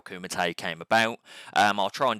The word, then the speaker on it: Kumite: Yeah, so at the start of this, I pronounced it as Kumite Wrestling Academy. Kumite. Yep, so Kumite.